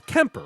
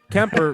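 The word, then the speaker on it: Kuemper: uh our new goaltender Mike you say it's Kemper right that's how you pronounce it okay yeah I I know you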